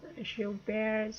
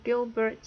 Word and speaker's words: Gilbert: And but I also have suffer from an abnormality called Gilbert's syndrome or Gilbert's syndrome, depending whether you wish to pronounce it in the American English way or the original French pronunciation.